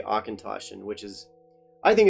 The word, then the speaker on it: Auchentoshan: not phonetic but they they sound out how you're meant to say akintoshin which is i think